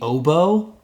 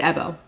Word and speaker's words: Ebo: I think I want it to be oboe, because I want it to be a musical instrument. So I keep mentally doing that. Yeah, I made a note about the pronunciation to make sure I had it right. It's Ebo.